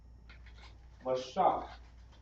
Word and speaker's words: Mashak: Let's spell it out. Should be Mashak.